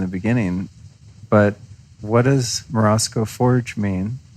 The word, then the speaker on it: Morozko: Yeah, so Morozko, which is the way I pronounce it. I haven't really heard very many Russians, native. write in and tell us. Yeah. Morozko. Sounds right. Yeah. I try to say it with a Russian accent.